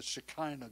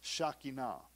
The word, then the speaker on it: Shekinah: the things that he gives to us the shakina now if you were grown up in pentecostal churches from the deep south they call it the shekinah glory but it's pronounced shakina hundreds of years before yeshua came israel looked